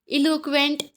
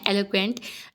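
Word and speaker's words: eloquent: इलोक्वेंट, एलोक्वेंट भी इसको पढ़ते हैं, एलोक्वेंट इसके राइट प्रोनाउंसिएशन है एलोक्वेंट।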